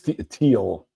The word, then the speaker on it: Thiel: name barab boots Barb he is teal teal teal rhymes with heel in squeal what do you think